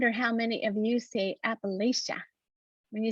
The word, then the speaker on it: Appalachia: and i tell people the best way to remember is if you don't say it right i'm going to throw an appalachia and that's why you can remember how to say appalachia so this is only